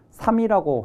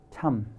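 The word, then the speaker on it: 參: 그래서 모라고 읽는 게 이제 그래서 그런 거라는 걸 알아두시고, 그 다음에 이제 이 글자는 전통적으로 증자의 휘를 삼이라고 했는데, 어떤 데서는 이게 삼이 아니고 참이라고 하는 데가 있습니다. 참.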